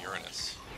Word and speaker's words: Uranus: Go to Uranus. Uranus! That's how it's pronounced, guys, not Uranus. Somebody's probably waiting for me to say Uranus. But it's pronounced Uranus.